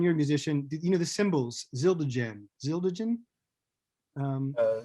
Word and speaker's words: Zildjian: John you're a musician you know the symbols zildagen zildagen um uh Zildjian yeah they're an Armenian family in Massachusetts that